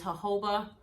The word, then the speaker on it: jojoba: This one is from Eden Body Works and is jojoba manoi. And yes, the word is pronounced jojoba, not jojoba. The J's are silent.